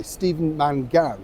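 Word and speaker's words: Stephen Mangan: now this particular guy Steven Mangan I think is how he pronounced his name actually been to my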